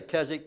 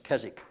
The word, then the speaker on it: Keswick: so difficult and so it's a silent w in english kezik and let me tell